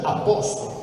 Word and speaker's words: a posto: Ma quando lo pronunciate, non è che pronunciate a posto, si pronuncia a posto, lo raddoppiate, perché è un processo che si chiama raddoppiamento fonosintattico.